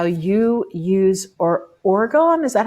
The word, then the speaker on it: orgone: Um, Tell me about how you use orgone. Is that how to say it? Orgone? Orgone?